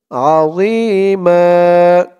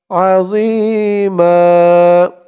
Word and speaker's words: عظيما: জর উচ্চারণটা খেয়াল করুন। জি বলা যাবে না, জি বললে জার উচ্চারণ হয়ে যাবে, বলতে হবে আজিমা আজিমা।